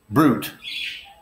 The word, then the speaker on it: brute: However, there are cases where that opening I sound is not pronounced and it's not a diphthong, for instance, with the word brute.